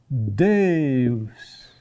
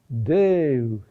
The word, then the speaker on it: Deus: Deus. Deus. The accent is on the next to last syllable.